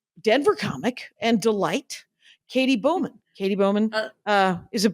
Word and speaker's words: Bowman: Dork Forest is Denver Comic and Delight Katie Bowman Katie Bowman uh is it Bowman I'm doing Bowman right nope Bowman's good yeah I did it I did it right